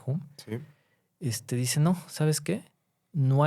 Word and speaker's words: Hume: Entonces, un filósofo de la misma época, Hume, o bueno, Hume, creo que se pronuncia Hume, dice, no, ¿sabes qué?